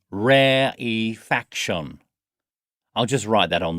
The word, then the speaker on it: rarefaction: phase please note that while rarefaction begins with the spelling are a are e the e is pronounced as a separate syllable so we say rare e faction I'll just write that